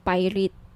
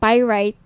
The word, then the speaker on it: pyrite: ng bracelet ito yung pirate pyrite sorry pyrite yung iba pronunciation pirate pyrite Okay 1,980 each may